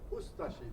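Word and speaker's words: Ustaše: We pronounce it Ustashi. We pronounce the U and de-emphasize the ashi.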